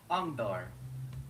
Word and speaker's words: Angdor: Angdor. Angdor. Okay. It's 3 syllables.